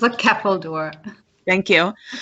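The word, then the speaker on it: ceffyl dŵr: Can you pronounce that word for me, please? It's a Keppeldoor.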